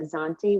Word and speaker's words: Zante: How do you spell that? Zakynthos. Yeah. Zakynthoos. Zakynthos. Zakynthos. Sometimes they call it Zante, which is the Italian name, if I'm not mistaken.